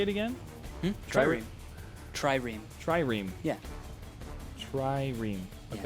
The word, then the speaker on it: Trireme: Trireme.